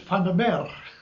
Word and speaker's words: Vandermeer: I said, "Vandermeer." That's how you say it in Dutch.